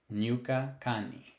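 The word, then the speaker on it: Ñuka kani: kangi I am from Nuka Kani just like the Spanish enye this is like an ny sort of sound so I would say nukakani Estados unidos where are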